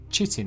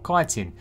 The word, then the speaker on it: chitin: is how you get chitin or chitin if you pronounce it the wrong way this is also a